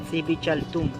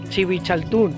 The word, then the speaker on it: Dzibilchaltún: ¿Se pronuncia? Civichaltún. Civichaltún.